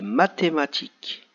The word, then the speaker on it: mathématiques: mathématiques tôt comme l'orthographe vous voyez les deux derniers mots ici le hb n'est pas au début du mot mais il y compris entre 2 lettres et comme la lettre qui est avant ce n'est pas le sait donc on ne l'entend pas voilà même s'il au